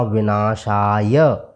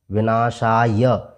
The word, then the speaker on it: विनाशाय: आप पढ़ेंगे अति तृष्णा विनाशाय विनाशय य में जो अ मिला हुआ है उसका भी हमें उच्चारण करना है विनाशाय ने पढ़कर के